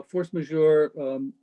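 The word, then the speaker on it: force majeure: uh i noticed um the force major is that is that how you say it uh yes yes okay uh force major in the dda includes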